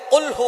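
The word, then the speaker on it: قُلْ هُوَ: রাব্বুল আলামীন এখানে বলছেন কুলহু আল্লাহু আহাদ এখানে কফ দিয়ে পড়ছেন কিন্তু অনেকেই ভুল করে উচ্চারণ সঠিক না হওয়ার কারণে তারা পড়ে কাফ দিয়ে কুলহু আল্লাহ ক শব্দের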